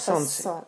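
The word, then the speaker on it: солнце: les 3 lettres Sonce. Sonce. Sonce. On n'entend pas vraiment le L, mais c'est bien ça quand même.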